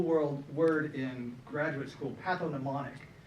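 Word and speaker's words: pathognomonic: word in graduate school patho mnemonic it's got a g in the middle it took me a long time to learn how to say it on that G but what that means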